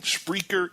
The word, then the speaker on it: Spreaker: Again, Spreaker is speaker with an R in there.